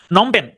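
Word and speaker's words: Phnom Penh: যেটা থাকবে সেটা দাগাবেন নমপেন নমপেন হচ্ছে কম্বোডিয়ার রাজধানী নমপেন হচ্ছে কম্বোডিয়ার রাজধানী নমপেন এইটার বানানটা একটু অন্যরকম শুরুর যে পিএইচ আছে এই পিএইচটা হচ্ছে সাইলেন্ট শুরুর পিএইচটা হচ্ছে সাইলেন্ট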